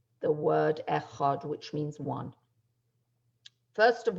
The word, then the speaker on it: echad: be thinking about as we say the word echad which means one first of all it's also very important to make sure to pronounce the dollar really pronounce it and not